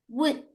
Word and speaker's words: would: Nah, Teman-teman ini cara bacanya bukan W. Jadi O sama L-nya hilang. Jadi would jadi kalau betul seperti